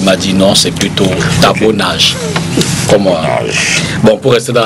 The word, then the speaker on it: Tibor Nagy: qui m'a été rapporté, qu'on prononce, qu'on dit plutôt Tabo Nage, parce qu'il est hongrois de nationalité. Okay. Et ça se prononce d'origine. Il est hongrois d'origine et ça se prononce dans son origine. Et la personne qui me disait s'est bien marrée quand je lui ai dit Tabor Nagi.